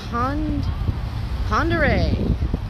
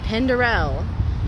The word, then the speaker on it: Pend Oreille: this is like i've recently discovered how to pronounce it pond pandere lake pondere this time i called it pandarel but it's check this water out it's gorgeous